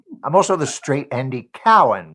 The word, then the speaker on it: Cowan: also the straight Andy Cowen whose name has been mispronounced my entire life I know it is Andy Cowan but uh I love